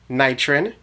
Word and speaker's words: Knightrin: you pronounce it and i said nitron she said correct i was excited i